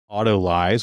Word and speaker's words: autolyse: conflicting pronunciations for this so there are a lot of sources that have Auto lies which I think is actually how I said it I guess we can